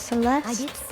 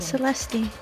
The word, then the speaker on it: Celeste: do you think celeste celeste is how you pronounce her name now that you mentioned it yes celeste not celestine like i was saying it's